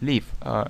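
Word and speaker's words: live: Не путать глагол leave, длительный звук, с кратким leave, жить.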